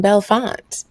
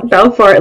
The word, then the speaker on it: Belfort: Her name is Madison Belfort. Did I say it right? Yes, you did. Okay. Belfort, like Jordan Belfort.